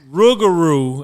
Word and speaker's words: Rugaru: How do you say it? Rugaru. I had to say it like Scooby-Doo, you know.